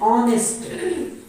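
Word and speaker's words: honest: bowl से हो तो यहां पर एक साइलेंट है और बाकी क्या है ऑनेस्ट बाकी बचा हुआ शब्द का उच्चारण किस तरह से हो रहा है साइलेंट हो और बाकी जो शब्द बच गया उसका उच्चारण बाउल से स्टार्ट हो घूम फिर कर बात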